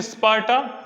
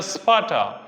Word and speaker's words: स्पार्टा: Are silent है, ठीक है, आप उच्चारण कर सकते हैं स्पार्टा या स्पार्टा।